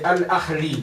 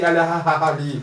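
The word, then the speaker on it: Al Ahly: Ye al-ahli, si al-ahali.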